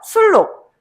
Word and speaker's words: 순록: 만 비음하 네 비음화 비음화요네 발음 한번 해 볼까요 술록 술록 술록 전 유마로 선택 술록네 유음마입니다. 아시겠죠? 발음할 때 순록이라고 발음하지 않습니다. 우리가 발음하기가 더 편한게 뭐야? 술록이잖아.이 의문 변동 같은 경우에는 발음 현상이잖아.